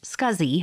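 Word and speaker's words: SCSI: least four SATA ports small computer system interface pronounced scuzzy hard drives join the storage Market in 1986.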